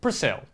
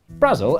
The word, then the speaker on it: Brasil: Brazil, as it's probably pronounced, is an enchanted island